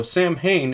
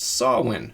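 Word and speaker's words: Samhain: Also, Sam Hayne is actually pronounced Sawin.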